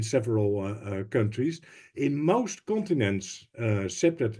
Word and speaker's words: CPTED: In most continents, CPTED is well known, pronounced as CPTED.